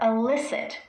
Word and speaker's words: illicit: These 2 words are homophones. What that means is they are words pronounced in the same way, but they have different meanings.